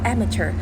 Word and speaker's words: Amateur: มี ชื่อ ว่า Amateur คำ นี้ นะ คะ อ่าน ว่า Amateur แปล ว่า มือ สมัคร